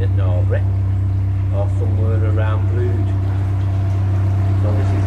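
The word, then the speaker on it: Brewood: we're continuing down towards a place called Brewd, but it's spelled Brewd, B-R-E-W-O-O-D, and we'll probably be mooring just past that at some point later today.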